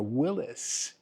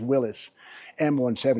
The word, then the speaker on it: Willys: M170 or actually a Willis. I guess the correct pronunciation is Willis M170.